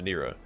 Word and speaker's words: Nurah: Back in Nurah, which is actually pronounced Nurah, there were rumors about terrible experiments that Baphomet and Discard performed on their troops to make them stronger.